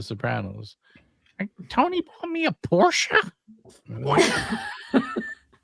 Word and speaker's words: Porsche: Is it Same thing with Porsche. It's Porsche but everyone says Porsche Porsche Porsche, you know what I mean? Who's going to really say Porsche?